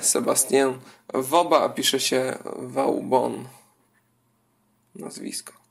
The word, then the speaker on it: Vauban: Tutaj to francuski E, Sebastien Vauban, a pisze się Vauban. Nazwisko Vauban.